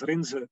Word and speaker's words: Rinse: For those of you that are live, my name is Rinse. That's actually how you pronounce that first name. It's a Dutch first name, rather unusual.